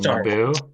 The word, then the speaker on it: Naboo: I feel like you have to emphasize the second syllable, Naboo.